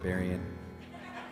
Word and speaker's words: Berrien: I was born in Southwest Michigan, and the county I lived in, Berrien County, that's how you say it, Berrien.